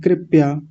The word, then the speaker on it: कृपया: और कुछ लोग गलत क्या बोलते हैं? कृपया। प्या, पा को आधा करके बोलते हैं कृपया। कृपया नहीं है, कृपया।